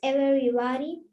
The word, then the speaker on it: everybody: The next morning, the song got everybody up Every. early. Es como que la E fuese silent letter. Everybody. Everybody up early to say goodbye to John Henry.